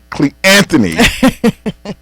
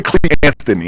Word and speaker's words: Cleanthony: Say Cleanthony and see Cleanthony. Hey, it ain't just us. Think about his English teacher. all through his life, they were like Carlton Wade, It's phonetically correct.